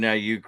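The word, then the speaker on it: Aiyuk: Isn't it funny that Brandon Aayuke Rams rhymes with puke in the same league as Dylan Lurham for me is what uh MD says.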